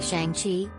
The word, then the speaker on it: Shang-Chi: To get it back, Sean flies off to China with Katie in tow, revealing to her that his real name's actually Shang-Chi, pronounced like Sean with an extra G, and he was raised